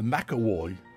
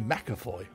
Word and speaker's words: McAvoy: director always called her Mack award but this doesn't seem very likely in that V is not pronounced W in German it has been as F so she will be May mcafoy I should of course